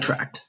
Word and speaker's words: Vitract: Am I pronounce that correctly? The Vitract or is it Vitract? Chidozie: Vitract.